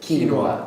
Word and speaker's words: quinoa: How do you pronounce that? Quinoa.